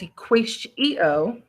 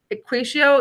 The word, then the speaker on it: EquatIO: So I'm going to open up a new tab, go to apps, web store, and again, it's EquatIO. I know it's a funny way to pronounce it.